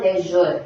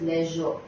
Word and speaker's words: leisure: like students say like Leisure it is not Leisure it is Leisure coming to the word gesture again gesture I